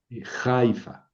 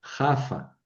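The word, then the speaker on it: יפו: Hay una ciudad que se llama Jaafa, que no es Jaifa. Jafa. Y en hebreo es Jafa.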